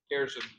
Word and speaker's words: Gairson: And is that pronounced correctly, Gairson? Gairson, yes.